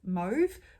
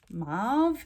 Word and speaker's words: mauve: was a brown uh this is mauve or marv depending on how you say it so that is the